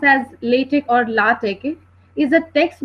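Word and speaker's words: LaTeX: programming language over other Document Preparation systems so latch which is pronounced as latek or lat is a text based Document Preparation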